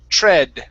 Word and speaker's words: tread: this word here is a short e okay so it's tre tread okay again we have the